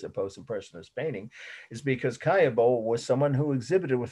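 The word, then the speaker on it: Caillebotte: paris a rainy day the artist's name is kaya bo that's how you pronounce it roughly in in french so it's spelled c-a-l-l-e b-o-t-t-e and the date is 1877.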